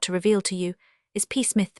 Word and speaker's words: Psmith: My name perhaps I ought to reveal to you is peith p is silent and until very recently I lived in affluence not far from the village of much middlefold in this county.